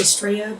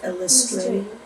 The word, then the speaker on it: Illustrate: I always want to say Straya, but it is Illustrate. Yeah, It's like illustrate.